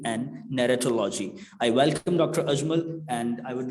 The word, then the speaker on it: Ajmal: My name is Ajmal, not Jamal. Ajmal Jamal, you have mispronounced.